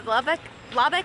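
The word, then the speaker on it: Loboc: hand for the railing so here is the lubbock river that's how you say it love it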